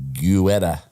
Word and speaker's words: Guetta: Other residents of the gated community include Tom Brady, Gisele Bundren, and superstar DJ David Guetta. Never know how to spell that.